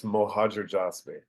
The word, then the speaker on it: Mohajerjasbi: yes Z okay can you pronounce your last name for me so when I say it wrong I have a real EXC good excuse yeah sure it's mojer jby that's exactly what I